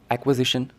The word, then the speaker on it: acquisition: इन दोनों शब्द में बहुत ज्यादा डिफरेंस है एक्विजिशन बंता है शब्द एक्वायर से और एक्यूजेशन बंता